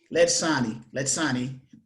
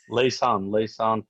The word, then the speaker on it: Laysan: Letsani from Europe. I'll just say Europe. How about that? Can I just call you Europe, Letsani? No, Laysan from Connecticut. Laysan.